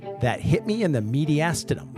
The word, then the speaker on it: mediastinum: hit me in the mediastinum last time I said media steum because that was an owed to one of my old teachers that just had to say it wrong so anyway so today